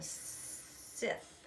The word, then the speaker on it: scythe: There's a hay fork and a scythe, I think, scythe. It's the C is silent, but it's obviously a blade on the end of a stick that they would harvest their wheat with.